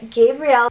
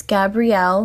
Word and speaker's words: Gabrielle: here this is the Gabriel hey guys so I'm actually super dumb I pronounce this wrong all throughout the video it's Gabrielle not Gabriel Gabriel because there's two elves gbri elo II but